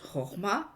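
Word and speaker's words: חכמה: Marc Alain Waknin dit de la sagesse, qui se prononce Chorma en hébreu, la Chorma ouvre au lieu de fermer, interroge au lieu de prouver, exprime une question au lieu de vouloir posséder.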